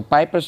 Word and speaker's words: Piper: So Piper's name also, like I said, rhymes with sniper.